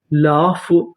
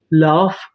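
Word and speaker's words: laugh: कफ कफ का मतलब खांसी एल ए यू जी एच एल ए को पढ़ेंगे ला यू जी एच फ लाफ लाफ लाफ का मतलब होता है हंसना ए एन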